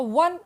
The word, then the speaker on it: one: वन, ओ की sound नहीं है. ओ है तो वोवेल है बट इट्स pronunciation इज W here. वो, वन आइड मैन, वो. ओ की pronunciation रहती है ओ, ऑरेंज. बट यहाँ पे वो साउंड आ रहा है. That's why वी यूज ए.